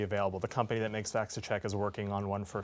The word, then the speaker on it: VacciCheck: VacciCheck. VacciCheck.